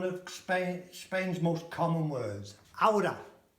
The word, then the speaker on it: ahora: Ahora It's just, notice how I say it, one of Spain's most common words. Ahora. Ahora. Not ahora. Yeah? H is silent.